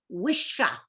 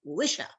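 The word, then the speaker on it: wicca: wicker was originally pronounced wisha it is an Anglo-Saxon word with a soft C what's the hard C of Irish and Scottish Gaelic so remember it's Wisher and it can be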